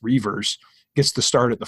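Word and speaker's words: Reuvers: Reavers, it's spelled a little bit differently, but pronounced Reavers, gets to start at the 4 spot traditionally.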